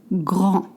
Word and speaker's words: grand: C'est trop grand. You don't pronounce the D at the end, please.